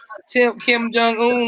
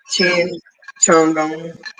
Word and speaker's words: Kim Jong-un: I Yeah, know Kim Jong-un. mispronounced it. Yeah. Kim Chin. Chin Chung.